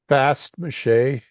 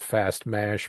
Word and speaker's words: Fast Mache: Fast mache. It's like f a s t uh and space m a c h e is how we pronounce it. Some people call it fast mash, but it's it's it's it's just and it's